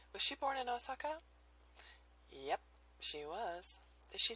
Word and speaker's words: Osaka: With an American pronunciation, it's Osaka.